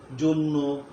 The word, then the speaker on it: জন্য: 3 নম্বর সূত্র হলো অকারের পর যদি জফলা থাকে তাইলে অয়ের উচ্চারণটা ও এর মতো হয়ে যায়, যেমন গদ্য, গদ্য, পদ্য, জন্য।